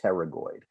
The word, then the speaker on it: pterygoid: medial and the lateral pterygoid the p is silent and pterygoid significance of